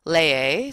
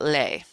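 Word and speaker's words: lee: night this year's lair remember there's two syllables lay a so that can be hard so it's not lay Lupe a Jose Pat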